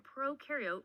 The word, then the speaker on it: prokaryote: like to remember that pro in prokaryote rhymes with no and you in eukaryote